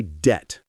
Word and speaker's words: debt: Like I paid my debt. Got it. I have no debt. Perfect. So remember, no B sound in debt.